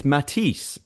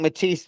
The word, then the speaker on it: Mathis: It's Matis in the books that I'm listening to. Oh, really? Yeah. Matis like like the painter Matise.